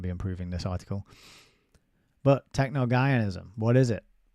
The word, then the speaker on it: Technogaianism: So it's Gaia is the middle bit, and it's Technogaianism. Technogaianism.